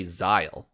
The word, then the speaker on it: Zahel: two different characters because there's no i and there's no e for anything to to give it the zai part of that first the first syllable so it's z-a-h-e-l and they say xyle but a lot of